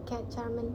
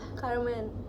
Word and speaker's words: Carmen: Enggak, dia aku kayak Charmaine. Siapa sih? Carmen Iya. Carmen Bacanya Carmen.